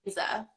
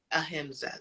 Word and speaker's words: ahimsa: I don't know how to say the pronunciation, so I don't even pronounce anything. Ahimsa. Ahimsa.